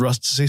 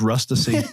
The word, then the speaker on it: Rustici: had a software company it was called Rusty software that's pronounced rustic software never name a company